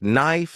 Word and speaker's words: knife: For example, words like knife and knee confused me because the K was silent.